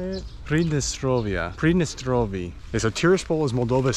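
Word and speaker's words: Pridnestrovie: driver here inside transnistria they don't call it Transnistria it's a predestinal previous nope how do you say it predestrovia prednestrovie okay so Tiraspol is moldova's second largest city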